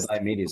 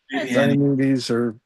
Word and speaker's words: Diomedes: Remember that early Woody Allen movie where he makes that joke about old Greek stuff where he makes up a name, diabetes? There you go. Yes. That's what Diomedes sounds like. Diomedes yes, or well, I